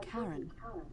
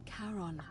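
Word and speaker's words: Charon: it's just as you described it only your pronunciation is a little off the name you heard wasn't karen it was c-h-a-r-o-n as in caron the ferryman of the dead who in exchange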